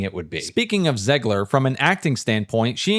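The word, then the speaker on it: Zegler: Speaking of Zgler, from an acting standpoint, she and Galadot are absolutely terrible in this movie.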